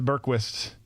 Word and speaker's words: Bergqvist: they simplified it to Bergqvist in America. A lot simpler. It's a lot simpler. Yeah, it's Bjork, and then still the Quist, but of course they pronounce it with a V.